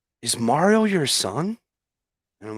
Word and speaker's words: Mario: Brian came by last week, a couple weeks ago, and Brian pronounces it Mario, not Mario, and us Filipinos pronounce it Mario.